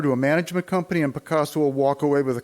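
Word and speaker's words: Pacaso: closed escrow to a billion dollar company called picasso i'll spell it p-a-c-a-s-o their intention is to convert the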